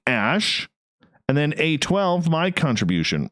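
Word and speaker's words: Æ: And then the AE is pronounced like Ash.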